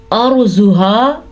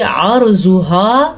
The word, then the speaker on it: عَرْضُهَا: غنہ نہیں ہوتا۔ عَرْضُهَا، آئین کے تلفظ کا دھیان رکھنا ہے، اگر آپ اس کو پڑھیں گے عَرْضُهَا تو اس کا معنی کچھ اور ہوگا، یعنی کہ اس کا معنی ہوگا اس کی زمین۔ عَرْضُهَا کا معنی ہے